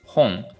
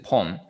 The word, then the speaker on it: 本: tree for example ippon not chinese reading is hong so as i mentioned right but here this one so pong actually here's hong right this is pong why because depending on the word before home so in